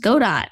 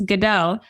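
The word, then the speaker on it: Godot: engine I looked it up and it's not pronounced God do it's a French gaming engine so I've been doing that wrong for a while but it's gdo and it's been really exciting just to see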